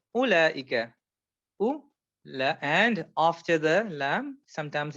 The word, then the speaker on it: أولئك: And when it comes to أولئك, you don't pronounce this wow. So this wow here, you don't pronounce. So it's أولئك.